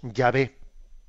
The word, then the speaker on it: Yahvé: bastante seguridad de que la forma de pronunciar esas consonantes, esas consonantes que dichas dichas en bueno, pues en nuestro en nuestro alfabeto, porque claro, estamos hablando de de consonantes hebreas, ¿no? dichas en nuestro alfabeto son la YWH y nosotros las pronunciamos Yahvé.